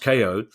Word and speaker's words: Kayo: But Kayo Sports, pronounced KO, which centralises all of the main pay TV sports channels onto one subscription for the price of $25 per month.